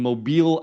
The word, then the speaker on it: Mobile: It's the Chamber of Commerce in Mobile, Alabama. M O B I L E pronounced Mobile if you're not familiar with that.